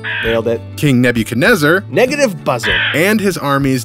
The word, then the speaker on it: Nebuchadnezzar: Rhymes with Ned can mutase her, or never can desert. Oh, no, I got it. King Negative Buzzard. Nailed it. King Nebuchadnezzar.